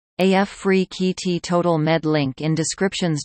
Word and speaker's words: Afrekete: Africa at work from home jobs pronounced AF free KT total Med Link in